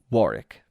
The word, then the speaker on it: Warwick: for the record although spelled warwick it is pronounced warwick of course because it's british of course it